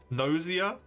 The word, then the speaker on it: Gnosia: I I I hate the way they say it though. I would like to overrule them as incorrect. Gnosia, nosia, how they say it should be. No, right? DN Gossia. That's a hard Yeah, it's a hard hard G.